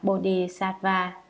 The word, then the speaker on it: Bodhisattva: Chữ Bồ Tát Ma Ha Tát, tiếng Brahmana ở Ấn Độ, nguyên âm đọc là Bodhisattva Nha Maha Sattva Nha, Bồ Đề Tát Đà Bà Gia Maha Tát Đà Bà Gia.